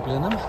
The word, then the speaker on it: Blenheim: at that lenam 100 you would pronounce it as it's written in German it would be Blenheim that guy might go to Blen him look there's a lost